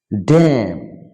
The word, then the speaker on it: damn: Damn, N will be silent মানে অগ্রাহ্য করা। solemn, solemn মানে একাগ্রতা। কলাম, N সাইলেন্ট থাকবে মানে সংবাদপত্রের কলাম।